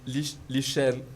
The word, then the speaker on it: lichen: De lichen, L-I-C-H-E-N. C'est prononcé lichen, c'est un gaumont.